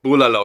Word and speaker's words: bulalo: Bulalo, yeah.